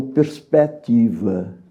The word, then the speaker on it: perspectiva: não pronunciam por exemplo a palavra perspectiva eles não pronunciam este ser mas este ser Tem uma função de acrítica semelhante a um acento agudo ou grave abre a vogal que antecede portanto todos os portugueses pronunciam perspectiva Olha bem esse malcinado